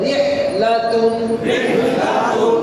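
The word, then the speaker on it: رحلة: তানবিনের মধ্যে সবসময় একটা শেষে ন উচ্চারণ হবে। কেমন? তাহলে রিহ লা তুন।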